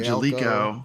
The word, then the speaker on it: Gaelco: the other games from Gialco, however you might pronounce that developer's name. Who is that? Like an Italian? I've heard developer? Gaelco and I've heard Jalico. Jalico. I've heard Yeah, several but different ways.